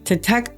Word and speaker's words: TTEC: To tech, pronounced TTEC, formerly known as Teletech is a business process outsourcing BPO company that runs customer support and sales operations for other companies.